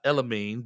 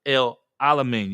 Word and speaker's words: El Alamin: El Alamin, not Elamine, but El Alamin. You got to put all those syllables in there.